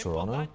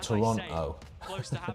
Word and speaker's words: Toronto: with the Toronto pronunciation is it really pronounced Toronto not really people say ton they say like ton so they they do the British thing of not pronouncing the second T and putting a is